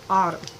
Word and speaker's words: Autom: Um, but it's this company called Autumn, and it's spelled Autom.